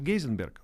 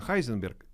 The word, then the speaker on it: Heisenberg: И ээ все произносят Гейзенберг. Правильно, конечно, Хайзенберг старая физическая традиция.